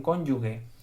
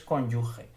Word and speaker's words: cónyuge: Unión conyugal cónyuge eh algunas veces los los españoles pronuncian esta palabra mal los propios nativos eh dicen cónyuge no es cónyuge es cónyuge y cónyuge quiere decir